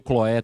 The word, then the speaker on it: Cloe: No versículo 11, irmãos, falando dos da família de Cloe, né, ou os da casa de Cloe, pode ser Cloe ou Cloé também, os irmãos pronunciam aí de maneiras diferentes.